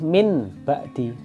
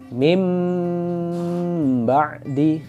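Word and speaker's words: مِنْ بَعْدِ: Nggak boleh min ba'di, tapi suara nun diganti menjadi suara mim, jadi bacanya mim ba'di, bukan min ba'di.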